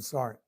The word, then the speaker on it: sergeant: We're calling him Sarnt because that's how I pronounce sergeant, which I was so friendlyly reminded on some of my shorts.